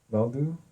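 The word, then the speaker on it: Vodou: Next in our perspective section we have a an article about uh how we would we would say voodoo in pronounce with the English pronunciation but vu voodoo voodoo.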